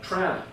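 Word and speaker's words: Trawna: Tran, that's how you say it. I believe that's the correct pronunciation.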